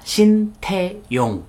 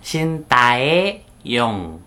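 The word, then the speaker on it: Shin Tae-yong: sintae pengucapan namanya Dulux pelafalan yang benar adalah sentey Young Bukan Cinta e-young Oke seperti bukan Park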